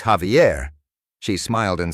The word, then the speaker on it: Javier: was from the Midwest had a student named Javier. On the first day, she read the role and called him Xi Vier. He politely corrected her. It's Javier.